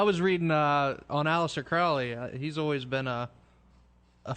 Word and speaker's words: Crowley: very interesting person and the name is crowley to rhyme with holy as he would tell you um he's a very